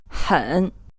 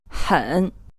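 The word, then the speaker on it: 很: as I said before you can hear that this H is more of a throat eh so it's pronounced huh try saying it again huh ganghwa eat here this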